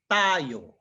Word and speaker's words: tayo: If it's tayo, the accent symbol would have been on top of the O, but the accent is on top of the A, so the way to read it is tayo, all right?